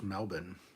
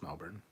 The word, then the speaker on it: Melbourne: It sounds weird how you guys pronounce an Australian city like Melbourne. It's pronounced Melbourne. It's not, though. It's Melbourne.